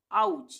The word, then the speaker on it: ouch: है ओ से ही, पर यहाँ पे हम इसका उच्चारण क्या कर रहे हैं, आ, इसका उच्चारण कर रहे हैं आ, OUT आउट, OUCH आउच, यहाँ पे ओ का उच्चारण आ रहा है दोनों में, ठीक है, आउच हो गया।